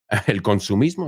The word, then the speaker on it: consumismo: El consumismo, is that how you say it? We say consumerism.